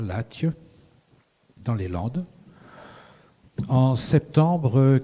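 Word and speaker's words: Latche: L'image c'est une anecdote qui se passe à Latje, parce qu'on prononce comme ça, Latje, dans les Landes, en septembre 81.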